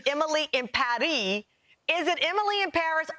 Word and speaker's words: Emily in Paris: my favorite shows yesterday netflix tweeted out that we're all pronouncing it wrong they say it's emily impari is it emily in